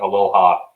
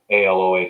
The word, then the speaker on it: Aloha: but it's spelled like Aloha, Aloha. So it's spelled the same way, but it's pronounced differently out here.